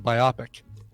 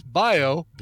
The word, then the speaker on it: biopic: that it was a biopic. Like, I'd pronounce it like myopic, right? Like, you pronounce it like you see other words getting pronounced instead of biopic, which makes a lot more sense, biopic, because it's it's short